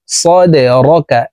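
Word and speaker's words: صَدْرَكَ: সদ দাল জবর সদে, দাল কলকলার হরফ নিচের দিকে ধাবিত করে ধাক্কা দিয়ে উচ্চারণ করব। সদে র জবর র, কাফ জবর কা, সদে রকা।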